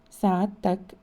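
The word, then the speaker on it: سعادتك: If the person addressed is of much higher rank, the word sa'adtak or sa'aditkum should be used and pronounced sa'adtak, sa'aditkum.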